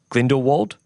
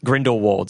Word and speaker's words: Grindelwald: I can never say his name for the bindle wold okay you guys are in the world grindelwald sorry grindelwald you know when they're talking about